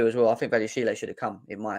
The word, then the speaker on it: Badiashile: The accent on the Badiashile, E for Badiashile. Badiashile.